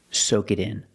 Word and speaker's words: soak it in: With the pronoun it, soak it in. We hear the T in it pronounced as a fast D.